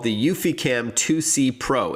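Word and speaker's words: eufyCam: to do that with the UfiCam, which is spelled EUFY cam.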